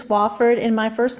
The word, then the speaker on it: Wofford: It's Wofford, and my first name is spelled like two names, J-O space capital A-N-N, no E at the end.